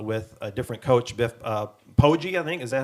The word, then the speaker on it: Poggi: The win came against CMU with a different coach, Biff Poggi, I think. Is that how it's pronounced?